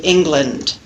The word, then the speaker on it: England: Listen to the difference between land and lund, as in the word England. So we have an unstressed syllable, the second syllable of the word England, and the unstressed vowel schwa.